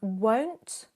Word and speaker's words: won't: So often I explain the difference as won't, oh, like don't, and want, like font, as in the type that you use, which kind of style of font you would use when you type. So, O is the sound.